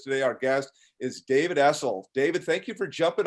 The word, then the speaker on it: Essel: Our guest is David Essel.